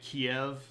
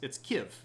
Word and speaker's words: Kyiv: As in, instead of pronouncing it Kiev, yeah, it's Kyiv. That's how you pronounce the city. It's Kyiv, which rhymes with give.